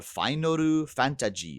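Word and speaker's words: ファイナルファンタジー: it's not in Japan it's called finu fantaji it's it's just a romaji the romanized version right version with Final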